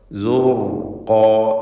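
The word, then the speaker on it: زرقا: യൗമഇദിൻ സുർഖാ, സുർഖാ, ഇതിൽ റായിന് തഫ്ഖീമാണ്. ശേഷം വന്ന ഖാഫിനും അതിൻ്റെ ദീർഘാക്ഷരമായ അലിഫിനും തഫ്ഖീം വരണം. സുർഖാ സുർഖാ.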